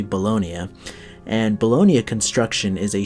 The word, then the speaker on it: Bologna: I know it's spelled Bologna, but it's actually Bologna.